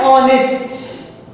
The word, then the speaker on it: honest: In the same way, an honest. Here, a honest. It is not a honest. We have to write it as an honest. Why? Because we are pronouncing it as honest.